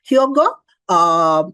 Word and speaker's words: Hyogo: came after the hogo I hope I'm pronouncing it correctly it's hyogo or chogo hyogo framework was there before